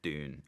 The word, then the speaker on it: Dune: So it's Dune, and I think that's kind of what we've all been told to say is Dune.